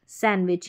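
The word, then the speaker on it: sandwich: सैंडविच यहां पर D silent है।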